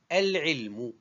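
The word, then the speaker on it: العلم: Il est déterminé, el-ilmu. Tout à l'heure, c'était une science. Maintenant, c'est la science. Donc, ce nom est composé de trois syllabes. El, l'article défini, el, il, deuxième syllabe, mu, troisième syllabe.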